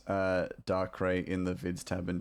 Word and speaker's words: Darkrai: Hear the pronunciation, but... Darkrai? Darkrai. So I was closer with Daiquiri.